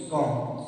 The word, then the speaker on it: comb: तो पहला है कि एम के बाद आया बी साइलेंट रहता है, कभी कोई चीज यूज करने के बाद बी आए तो कैसा होगा, साइलेंट होगा, यानी वो बी बोला नहीं जाएगा। जैसे कि लिखा हुआ है यहाँ मेरे तरफ है COMB कॉम, COMB, इसको हम कॉम में ना बोल के कॉम बोलेंगे।